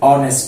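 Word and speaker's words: honest: যেমন হি ইজ অ্যান অনেস্ট ম্যান এখানে অনেস্ট উচ্চারণ করতে গেলে আমরা এইচ এর উচ্চারণ করি না আমরা অনেস্ট বলি না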